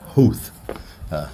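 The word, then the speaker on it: Howth: When I came here, I'm like Houth, and they're like, it's Houth. It's actually Hout. They don't pronounce the H.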